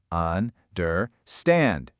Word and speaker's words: understand: So, the secret here is all about the rhythm. The energy, the stress is only on that third syllable. Understand? Ding. Those first two syllables, they're weak. They get that lazy schwa sound we just practiced. Un and dur. And the stressed syllable stand has that big open a sound we learned first. The rhythm is weak, weak, strong, weak.